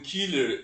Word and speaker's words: Köhler: Kurt kka e o wolgan Killer que se escreve cer né com trema o Wolf Killer Por que que entre